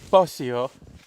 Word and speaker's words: Posio: Posio.